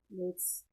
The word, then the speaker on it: Blitzø: The O is silent now. Important detail that Blitz repeatedly says in the show, Dio is silent, Dio is silent. He's not Blitzø anymore, he's Blitz because he wants to leave his past behind him.